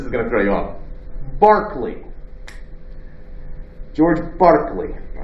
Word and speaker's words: Berkeley: is named after it berkeley is named after barclay that's because irish with the irish pronunciation by clay all right that's what you get barclay so what's he about